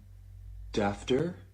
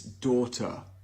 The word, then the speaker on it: daughter: If this is laugh, how do you say this? Would it be dafter? Oh, no, it's daughter.